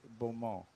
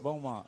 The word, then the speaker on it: Beaumont: Don't pronounce it Bulmo. Bulmo. Bulmo. It's Bulmont.